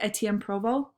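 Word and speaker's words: Étienne Provost: This, how they say it in French, is Etienne Provost. They kind of leave off the ST.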